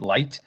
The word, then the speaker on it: LYT: and the communication with lyt which is um they actually pronounce it light um is encrypted traffic